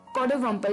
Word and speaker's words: coddiwomple: कोडवम्पल, जी हाँ दोस्तों, अटपटा वर्ड था, प्रोनाउंसिएशन थोड़ी सी अटपटी है, पर कोडवम्पल, CODDIWOMPLE, कोडवम्पल जी, यानी कि जिसका मतलब